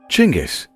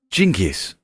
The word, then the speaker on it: Genghis: experts haven't determined what Genghis meant however it has different pronunciations such as chingis Genghis or jinkus it may have been